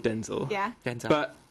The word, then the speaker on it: Denzel: Denzel yeah denel but he pronounces it Denzel stressing the zel whereas Denzel is his dad so they can so it's son actual Denzel Washington yeah if that makes sense Denzel Washington Jr pronounce it Denzel so stressing the den I don't know I